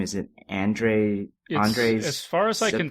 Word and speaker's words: Andrzej: Is it Andrzej? As far as I can tell, it's basically Andrew, and then the W has a V sound.